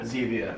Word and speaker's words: Zevia: Zevia, yeah.